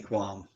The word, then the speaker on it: QAM: stop looking at me qualm or should I do it in the voice looking at me Quan so um yes stop looking at me qualm uh which is spelled QAM there is no you